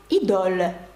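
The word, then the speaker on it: Idôle: у ланкома є також дуже відомий парфюм ідоль ідол і подивіться наприкінці не читається є маленька деталь Я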